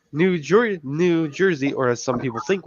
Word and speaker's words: Jersey: No offense to anyone from New York, but it's pronounced New Jersey. I just say Jersey. Jersey. It's like you have G-E-R-Z.